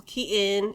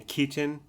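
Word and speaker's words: Keaton: wonder like maybe Michael Katon is the same well okay so has Michael Katon been he's 50 years 60 years old has he just given up and he stopped pronouncing the T in Kon has he never pronounced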